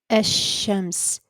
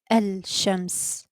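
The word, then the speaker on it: الشمس: So if you notice, I said Ash-Shams, not Al-Shams. Okay. So it's like the pronunciation of the lam is hidden, and we went directly from the hamza at the beginning to the sheen, Ash-Shams.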